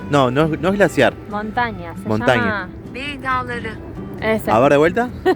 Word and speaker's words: Bey Dağları: Bey Dağları. Ese. A ver, de vuelta. Bey Dağları. Muy bien. Yo lo leería como Bey Daglari, pero así se pronuncia en turco.